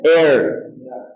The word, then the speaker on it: heir: আর এটা হচ্ছে এয়ার।